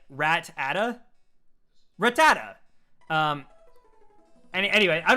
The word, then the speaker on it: Rattata: I was a kid, I used to say Rattata, like Rat-ata.